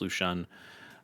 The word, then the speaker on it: Lu Xun: I've got a Lu Xun deck, or Lu Xun, maybe you've seen, but it's pronounced Lu Xun.